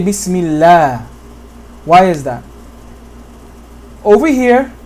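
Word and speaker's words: بسم الله: Unless a kasra comes before the name of Allah, meaning that this Bismi is connecting to this name Allah. Okay? And in this situation, we say Bismillah.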